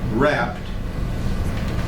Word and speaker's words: wrapped: that his body was W wrapped wrapped you notice is a silent silent w placed in a chamber